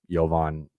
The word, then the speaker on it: Jovan: So, obviously because Jovan, it's with the J, but it's pronounced like a Y.